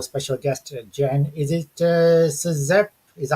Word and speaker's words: Czep: Is it Czep? Is that how you pronounce it? Or? Seep. Seep is how you pronounce it.